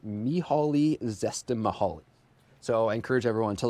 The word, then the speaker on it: Csikszentmihalyi: in the 70s, and everyone says his name quite differently, but the way that I pronounce it is Mihaly Csikszentmihalyi.